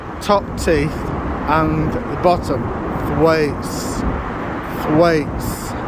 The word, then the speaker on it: Thwaites: Now this is a very commonly mispronounced word called, the brewery there is called Thwaites, right?